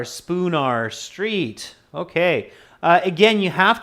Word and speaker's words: Spoonar: Yes, it's spelled S-P-O-O-N-A-R, spoon, like the spoon. I don't know if there's an emoji for that, but like the spoon that we eat with, okay? And finishing with an A-R, Spoonar Street, okay.